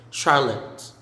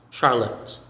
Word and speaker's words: Charlotte: i'll live next is charlotte not charlotte but char then down lit charlotte charlotte next cracked crack crack